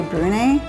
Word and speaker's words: Brunei: And I don't know if it said Brunei or Brunei. I've looked it up. It seems to be Brunei in English, but the local people here do say Brunei, and that's what it's spelled like. So forgive us. We're saying it wrong if we are.